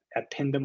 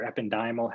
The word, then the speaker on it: ependymal: by uh this here these epindomal or ependymal however you want to pronounce it these cells here of